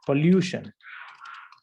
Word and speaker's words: pollution: So what you have done is, instead of saying pollution, you have mispronounced as what? Pollution. Pollution. This is wrong. This is not pollution. It's not pollution. Okay, it's actually pollution.